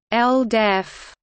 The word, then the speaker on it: LDEF: Exposure Facility, or LDEF, acronym pronounced LDEF, was a school bus-sized